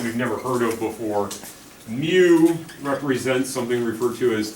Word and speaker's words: mu: weird greek letter is is the greek letter mu mu m u is how you pronounce it mu so coefficient of friction i